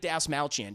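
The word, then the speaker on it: Dastmalchian: have David Des malchin by the way I feel like a superhero being able to finally say his name correctly David Das malchan chat uh he plays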